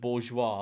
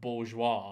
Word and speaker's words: bourgeois: The term bougie was created purely to disguise the fact that people couldn't spell the word bourgeois.